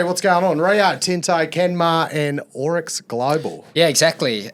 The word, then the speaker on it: Kenmare: Rio, Tinte, Kenmar, and Orex Global. Yeah, exactly. And we've been taught, Maddie, that it's Ken Mar apparently.